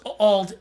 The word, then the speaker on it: Auld: Because what it is, it's Old AULD is how it's pronounced.